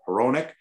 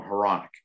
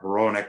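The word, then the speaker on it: Hronek: even on our team it's philip heronic and they'll still call him haronic and it's like jeremy roenick it's phillip heronic we ask it's heroinic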